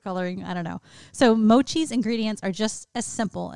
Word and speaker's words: mochi: Mochi. Oh, mushy.